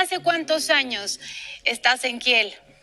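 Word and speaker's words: Kiel: cuántos años estás en Kel kil en alemán I y la e se pronuncia I en K estoy desde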